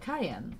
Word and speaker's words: Cayenne: Cayenne it's like but it's actually pronounced like Cayenne the pepper so or Cheyenne like